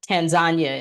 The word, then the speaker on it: Tanzania: came back back from Tanzania or Tanzania is is really how it's pronounced if you're over there but I came back